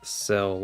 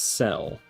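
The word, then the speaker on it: Cyl: So, I thought I always thought of it as Cell, like perfect cell from Dragon Ball, but I think I've heard from somebody that it's actually supposed to be sill like like silhouette or something like that.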